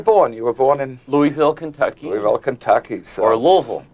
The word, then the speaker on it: Louisville: you were born in louisville kentucky well kentucky's or louisville if you live there louisville yes if you live there it's one syllable louisville oh this is good